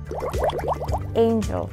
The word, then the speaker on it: angel: Angel. De nuevo, angel. Si te fijas, esta A la vamos a cambiar por una EI, aim, ¿vale? Y luego pues ya decimos el resto, angel.